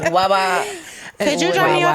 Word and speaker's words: Wawa: how you pronounce it? Wawa, yeah. How do you pronounce it? Way way?